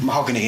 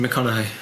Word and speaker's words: McConaughey: It's got Matthew Mahogany in. Matthew McConaughey, that's pronounced.